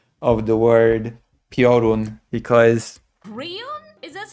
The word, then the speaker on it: Piorun: Listen, recount the tale, the legend of the Prion. Prion. I still cannot get over this pronunciation of the word Piorun. Okay? There's a very stark difference between Piorun and Prion.